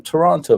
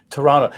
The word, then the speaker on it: Toronto: i got here either toronto that's interesting so you the the second t is silent such like in the